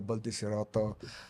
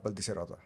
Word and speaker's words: Baldiserotto: give us a bit of background of Giada Baldiserotto in Italy, or wherever you've been in the past few years? Before Dubai, what or where is Giada Baldiserotto?